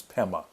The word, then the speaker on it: padma: uh in tibetan uh the tibetan pronunciation of of the sanskrit the tibeto sanskrit they say padma becomes pema so this is lotus